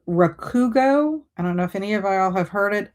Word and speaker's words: Rakugo: Um it's called Rakugo.